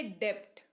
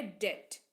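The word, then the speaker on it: debt: तो यह होता है डेप्थ क्या होता है डेप्थ लेकिन जो इसका सही उच्चारण है वह है डेथ फिर है सी ओ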